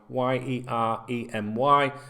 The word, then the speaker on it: Yeremi: His first name is Yeremy, Yeremy, and his surname is Pino, Pino. The Yeremy can be spelt with an I instead of a Y sometimes as well. I've noticed some different variations of it.